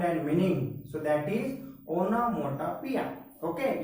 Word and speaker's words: onomatopoeia: So if that comes sound and meaning, so that is onomatopoeia. Okay, you can say onomatopoeia also. Both pronunciations are there.